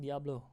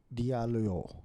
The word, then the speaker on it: Diallo: Did I spell it? It's Amina, right? AMINATE space DALIO, if I'm not wrong, or DALLIO. Aminate Diablo. Diallo.